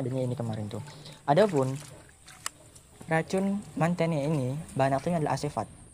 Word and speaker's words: Mantene: Nah, insektisida yang kedua yang Anwar gunakan adalah ini berupa yang namanya adalah Mantene. Jadi kalau ejaannya MANTHEHNN, Mantene.